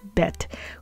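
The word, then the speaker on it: ב: and that dot inside the letter bet is called a dagesh.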